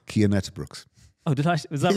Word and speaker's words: Cian Uijtdebroeks: Brooks can you tell me how that's actually pronounced key andet Brooks oh did I is that right right so